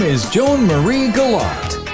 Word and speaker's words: Galat: name is Joan Marie galot galot rhymes with DOT which is Handy because she wrote The Dot to dot in the Sky series